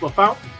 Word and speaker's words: LaFontaine: town is pronounced because it looks like LaFontaine but it's pronounced La Fountain which I don't get